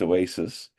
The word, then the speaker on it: OASAS: OASAS, typically pronounced Oasis, is about substance abuse services.